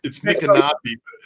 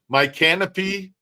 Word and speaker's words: Micanopy: It's Micanopy, but it's funny because some people say my canopy, like canopy, my canopy, or Micanopy. So, but it's Micanopy.